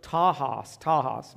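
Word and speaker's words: τάχος: It's the Greek word tahos, but it's spelled T-A-C-H-O-S.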